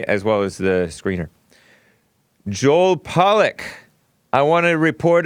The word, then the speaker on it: Joel Pollak: not to be confused with Joelle Friday Dominick Joel Pollak is a Breitbart reporter and he's white